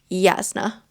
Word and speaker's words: Jasna: on my video saying it's actually Yasna. Oh, okay. That makes it so like Yeah. European almost how they how it's um Jay's are pronounced here. It's like a Y.